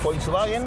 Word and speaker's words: Volkswagen: Le pidió un auto para el pueblo, que por eso Volkswagen, que se pronuncia con F, si sí.